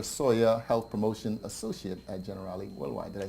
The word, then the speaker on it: Generali: And of course, friend Chandra Sawyer, Health Promotion Associate at Generali Worldwide.